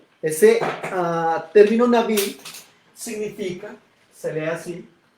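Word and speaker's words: נביא: Y hay otro término para profeta que lo voy a colocar acá, que es el término Naví. Ese término Naví significa, se lee así, y es uno también de los términos que fue utilizado para referirse al profeta.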